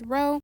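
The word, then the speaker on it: rho: at records we say row even though it looks like a p we pronounce it as row and so the rule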